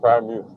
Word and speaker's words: Freiermuth: Is it Pat Fryermuth or Fryermuth? I hear it both ways. I want to get it right. Yeah, it's Pat Fryermuth.